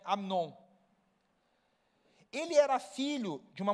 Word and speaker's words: Amnon: Aí o segundo filho de Davi é Amnon. Ou Amon para algumas pessoas, mas se escreve Amnon.